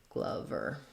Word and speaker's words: Glover: So we would have Glover. It is like the word lover with the same schwa sound, so that rule doesn't always apply.